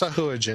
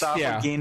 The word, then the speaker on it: Sahuagin: It's pronounced Sahuagin. There's two ways. Sahuagin is also right. Yeah. Didn't Jeff Grubb say it was Sahoygan?